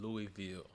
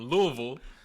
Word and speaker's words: Louisville: I'm originally from Louisville, Kentucky, born and raised there.